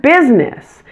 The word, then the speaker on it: business: business by the way be careful with the word business it has a dropped middle syllable pronounce it with only two syllables business here are some more